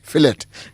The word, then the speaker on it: fillet: I know it's written fillet clearly. Yes. But you'll say, "But is that English or is it French?" Because if the T is silent, it is more It sounds like it's French.